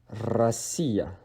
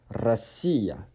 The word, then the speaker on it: Россия: We have Russia, Россия. Россия. O, because it is not on the stress syllable, it is de-stressed as A. So it's Россия.